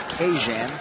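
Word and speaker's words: Kajan: Johnson this week this verse name is to be pronounced occasion so God true Belleza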